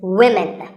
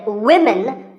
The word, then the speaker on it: women: learners of English is women. This is, of course, because of the English language's crazy spelling system. But remember that we say woman for one woman and women for the plural. Women.